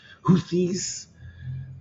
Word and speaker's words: Houthis: Additional activity in the Red Sea from the Houthis. That's how you say it.